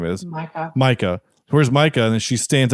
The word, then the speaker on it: Micah: because his name is Micah clearly but she calls him Mika the whole time and I I feel like I should write them a letter and say just want to let you know you mispronounced this person's name like I know it's your person and you created the character but you're saying it completely wrong um I'm gonna be